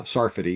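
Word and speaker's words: Sarfati: Uh, one is by my good friend John Jonathan Sarati. uh Saridy is actually how I pronounce his name and Joel Tay with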